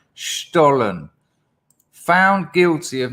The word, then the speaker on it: Stollen: John told me it's pronounced Stollen. This Sunday. Stollen.